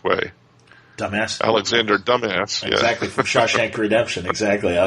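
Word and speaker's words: Dumas: yeah she did yeah I'm disappointed you didn't pronounce it the correct way dumb ass Alexander dumb ass exactly Shawshank Redemption exactly I was ended up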